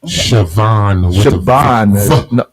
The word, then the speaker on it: Shibbon: met this lady here, Shibbon, and also Buddy Rowe, or the partner Buddy Rowe. You know, man, Shibbon with a V. It's spelled with a B, but it's pronounced with a V.